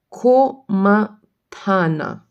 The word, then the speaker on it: Komatana: today i know i don't know why koma ko ma tana komatana uh washi washibon washibon i'm thinking if i did it did i pronounce it correctly yeah it's correct and i